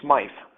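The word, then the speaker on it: Smyth: on classical garans like SMI and his uh look it's it's actually Smith spelled with a Y um and it's not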